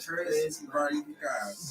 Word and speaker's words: Tres Barricas: How you pronounce it? Tres Barricas.